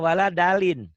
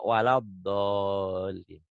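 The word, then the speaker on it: ولا الضالين: Kadang-kadang yang pengurus masjid yang yang sorbannya tebel, kemudian udah berjenggot dan segala, kadang-kadang bacanya waladalin. Ada juga walabdolin. Salah, bukan walab, bukan keba, bukan waladalin, bukan kedal, tapi ini walabdolin.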